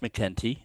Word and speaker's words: MacEntee: Uh, the name Mckenti is pronounced Mckenti, even though that little a dropped in there.